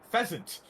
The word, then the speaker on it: pheasant: Well, I mean, no, there always has been, but they added Fizzant to it.